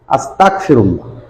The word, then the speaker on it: আস্তাগফিরুল্লাহ: কিন্তু যখন আমি আস্তাগ এর গয়নের স্থলে যখন আমি আস্তাক এই কাফ উচ্চারণ করব, অর্থাৎ আস্তাগফিরুল্লাহ, আস্তাগফিরুল্লাহ, তখন এর অর্থ হবে আমি আল্লাহর কাছে আল্লাহকে অবিশ্বাস করি, আল্লাহকে অস্বীকার করি।